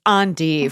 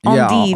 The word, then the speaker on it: endive: thought I saw and someone said it's on but they're with me they were probably from provance definitely that's French on is how you pronounce it French oh God